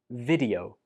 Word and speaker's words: video: It's much better to use the short E sound on the first syllable like this. Video, video.